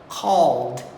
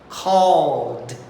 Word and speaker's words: called: E uma curiosidadezinha a mais, no passado você também não pode pronunciar a letra E. Ela está ali na escrita, mas ela não entra. Sabe qual é a pronúncia do verbo call no passado? Called.